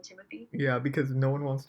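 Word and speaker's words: Timothée: it is the right i think the right pronunciation is timothee but he just says like everyone calls him timothy yeah because no one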